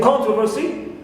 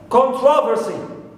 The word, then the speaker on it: controversy: Also, for the word controversy, sometimes the first syllable is stressed, like here, controversy. Other times, controversy. Second is stressed.